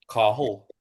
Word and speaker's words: Cathal: because in Ireland we would pronounce it Cahill? You don't Yeah, pronounce Cathal or Cathal. you don't pronounce the T. Cahill.